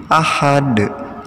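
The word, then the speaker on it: أَحَد: Jadi dalnya dipantulkan ya dibacanya seperti ini. Ahad, ahad, ahad.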